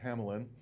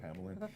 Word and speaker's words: Hamelin: piece by Mark Andre amalen or as he sometimes says Hamelin because he thinks everybody pronounces his name wrong so he just says say Hamlin it's going to play